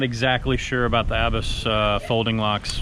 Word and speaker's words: ABUS: I'm not exactly sure about the Abus folding locks. Oh, it's Abus. I'm saying it wrong all this time.